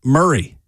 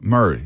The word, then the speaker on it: Maury: Why is Maury Murray? Maury is that's pronounced interesting. Murray. Murray.